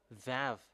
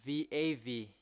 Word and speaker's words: Vav: So the shape of vav, it's really pronounced v.